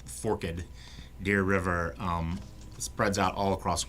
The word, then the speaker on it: Forked Deer River: song um the the forkadeer river and it's pronounced forked deer river um spreads out all across west tennessee and